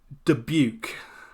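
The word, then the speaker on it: Dubuque: Apparently it's deuke. Did I get that right? Deuke. So uh yeah rhymes with puke.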